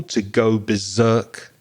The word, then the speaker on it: berserk: the pronunciation of Berserk I tend to stress the second syllable to go berserk to go crazy to go mad stress the second syllable berserk and I agree with